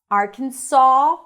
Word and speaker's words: Arkansas: Arkansas, more rounded, or Arkansas, more open. The S is not pronounced, but there's an interesting story behind it, and I'm going to tell you that.